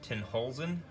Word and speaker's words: Tenhulzen: posted up this um not positive but i'm assuming that's pronounced ten holes in automotive and what this